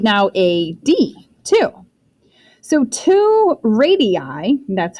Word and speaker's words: radii: So two radii, that's how you say it, there's more than one.